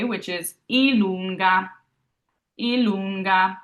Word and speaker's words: i lunga: I lunga. So I've underlined the lun because that's where we're going to kind of hold on a little more, emphasize there. I lunga.